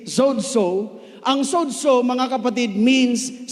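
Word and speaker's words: σῴζω: Ang tamang pronunciation po ay sozo, kasi ang ibang pastor na nadudulas nagiging soso. Tama? Pero ang right pronunciation sa Greek is zozo.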